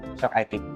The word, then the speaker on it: Shock IT: tadi ya atas grand openingnya Shock IT. Thank you Mas. Terima kasih. Oke, jadi kurang lebih segitu ya untuk Shock IT atau Shock It ya dibacanya ya.